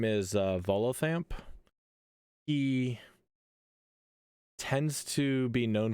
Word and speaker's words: Volothamp: Okay, so the way to say is Volothamp. That is Yeah, how you say it? Volothamp, Volothamp.